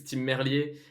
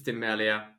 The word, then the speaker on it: Tim Merlier: think timeline i mean i don't know if it's pronounced french it's timely if it's pronounced british it's demelia i was i was